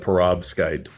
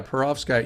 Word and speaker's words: perovskite: what we're going to talk about today is pervoskite did I pronounce it right pretty close perovskite yeah perovskite you know what's kind of cool about it